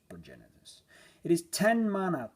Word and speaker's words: Progenitus: Progenitus, some call him Progenitus. Yeah, how do you even pronounce this? I pronounce it as Progenitus.